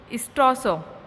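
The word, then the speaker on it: Strelsau: Black मैकाइल the Duke of स्ट्रॉसो, यहाँ L silent है, कि will take over the throne.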